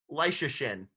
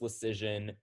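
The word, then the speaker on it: Leschyshyn: him oh that is no oh curtis curtis leishishin leicestershin curtis washington valley and effort uh this is another throwback it's curtis lucian who played for the nordiques back in the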